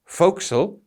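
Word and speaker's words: forecastle: and please note it's spelled for Castle but pronounced fil and this is a raised part on the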